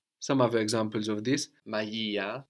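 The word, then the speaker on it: μαγεία: Magia, magia. This is the rama, no, like the G in magic, but softened by the E sound.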